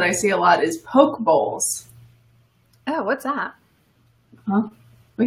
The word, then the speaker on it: poke bowl: Oh, Morgan says it's pronounced poke bowl. That kind of makes sense. Like a sushi bowl.